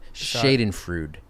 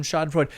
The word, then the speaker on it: Schadenfreude: I mispronounced that. Schadenfreude. Schadenfreude.